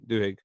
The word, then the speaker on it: Duhigg: pronunciation? Duhigg.